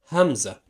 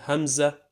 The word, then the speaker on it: همزة: Hamza is pronounced ah, like a short sound coming from the throat. Ah, ah. Now it's either alone, like so, and this way it's gonna be called Hamza ala satr, which means Hamza on the line.